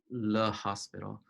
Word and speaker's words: L'Hôpital: want to see my Le Hospital. I used to think that there wasn't an S in his name, but it's just that French people don't pronounce CS.